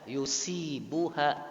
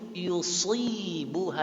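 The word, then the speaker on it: يصيبها: Kalau kita bacanya yusibuha, yusi itu sin. Tapi kalau kita baca yusibuha itu sod.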